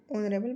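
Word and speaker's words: honorable: इसमें ऑनरेबल में H silent है इसलिए मैं इसको ऑनरेबल बोल रही हूं।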